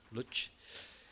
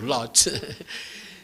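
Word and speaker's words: Łódź: Coming from Lodz, I pronounce Lodz.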